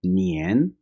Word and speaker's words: 年: नियन, नियन, नियन। अक्सर English speakers जो हैं वो नियान बोल जाते हैं, एक ही प्रोनाउंसिएशन को दुरुस्त तरीके से नहीं बोल सकते।